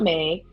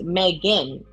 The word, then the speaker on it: Megan: her name is not Meg, her name is Megan.